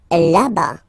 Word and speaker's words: là-bas: Là-bas. Là-bas. Remember, final S not pronounced.